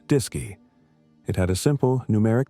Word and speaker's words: DSKY: The AGC interface was a display and keyboard unit called the DSKY, pronounced DISY.